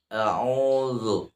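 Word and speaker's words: أعوذ: A bukan o, a. Qul a'udzu, Nah, ini perlu kita melatih ya.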